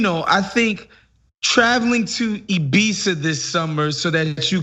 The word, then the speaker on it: Ibiza: you just referred to it is not ibiza it's ibiza all right i didn't want